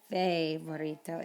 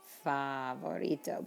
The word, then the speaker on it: favorito: i hear is favorito it's not fair burrito it's favorito because the letter a